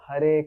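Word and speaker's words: Hare: What is the actual pronunciation of Har Krishna Mahantra? Hurry Krishna. Hurry Krishna Krishna Krishna.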